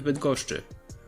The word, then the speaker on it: Bydgoszczy: You can also see the infamous SZCZ cluster, but it's nothing more than a combination of sz followed by ch.